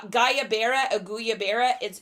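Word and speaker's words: guayabera: but they're like they're called I'm going to butcher the name guys you know I always do this uh gayaa auya Bara g u a y a b e r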